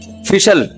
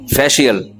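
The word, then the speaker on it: facial: फिशल फिशल फिशल फैशल। अबे सही pronunciation बुलवाया करो। फिशल ना फैशल। ये अमेरिका से आए हैं। ये सही बताएंगे। जी फेशियल ये अमेरिका से आए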